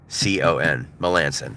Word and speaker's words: Melancon: Melancon, it's spelled like that. M-E-L-A-N-C-O-N, Melanson, there it is.